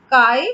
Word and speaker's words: chi: And if I remove the proportionality sign, this constant I am getting, this is pronounced as chi.